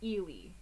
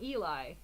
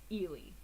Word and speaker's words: Ely: now yes post link so ely not eli not ellie ely okay um honest says